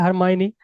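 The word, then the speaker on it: Hermione: फिर winter stele, जो character हरमाइनी, उसका प्रोनाउंसिएशन भी क्या, हरमाइनी, वो उसको भी हिडन कंडीशन में रखा, और वो she remain in hidden condition for 16 years.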